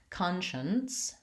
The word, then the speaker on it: conscience: And the only difference you can see here is that conscience has the N and conscious has no N sound.